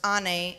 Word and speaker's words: Ann: My name, Ann, pronounced Anne, is the Turkish word for mother.